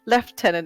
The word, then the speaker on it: lieutenant: Why is it called lieutenant? It's lieutenant. Well, there's a story behind it. It's only the UK that pronounce it like that because apparently some dude couldn't pronounce it properly, so they made it really easy for him to say lieutenant instead of lieutenant, even though it's really fucking obvious. It's lieutenant, as in lieutenant.